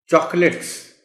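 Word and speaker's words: chocolates: Stomach, चॉकलेट्स. अब देखिए ना, लिखा हुआ अगर बच्चे को नहीं मालूम वो तो चॉकलेट कहेगा इसको. Where as the correct pronunciation of the word is चॉकलेट, चॉकलेट्स, etcetera.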